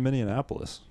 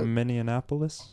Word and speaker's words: Minneapolis: Minneapolis Minneapolis Minneapolis Minneapolis you added a syllable minion F Minnie Mouse you combine Minnie Annapolis no you combined Indianapolis with many of us to get Minnie Annapolis which is fine I